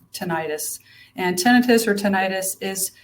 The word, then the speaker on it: tinnitus: to pronounce it the way I think it's pronounced, tinnitus. And explain what that is. The medical term for that is tinnitus, but it's often accepted in the public view as to be pronounced tinnitus.